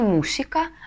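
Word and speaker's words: música: это он прочитает мусика Значит мы на письме также должны показать куда правильно падает ударение имографически ставим вот эту черточку ударение на букву у мусика И если мы не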